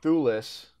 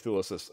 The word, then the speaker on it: Thewlis: but like famously, David Thewlis, I never want to say it, Thewlis, right?